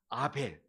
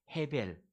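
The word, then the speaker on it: הבל: 복 보니까 뭡니까 이름이 아베 그런데 히브리어를 보니까 아베 d 아니고 정확한 발음은 해 베리 입니다 해 벨 근데 이해 베리 라는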